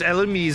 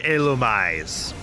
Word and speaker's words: Illumise: And yes, it is Elmise. It's not Elumise. It's just for some reason they never bothered to put the accented E over illumise, but that is technically how it's pronounced.